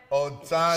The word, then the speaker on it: Otano: And then last but not least, we have Kerriann Otano. Did I say it right, Kerriann? Otano. She said I nailed it.